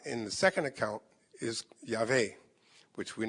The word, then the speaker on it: Yahweh: That same tetragrammaton, YHWH, with the W being pronounced like a V.